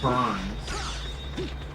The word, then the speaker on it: Byrne: It's spelled Brim. But pronounced Burns. Or Burn.